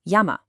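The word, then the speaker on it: 山: But in Japanese, since you can't end with that N sound, unless it's the special N, it has to expand into two open syllables. Yama.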